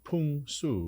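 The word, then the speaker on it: 풍수: name right uh fun we would say in Korean pronunciation punu right uh but it's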